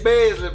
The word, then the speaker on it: Besley: get what he said make sure you say basically man because everybody get his name wrong so that's that's kind